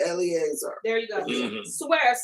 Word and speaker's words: Eleazar: Eleazar.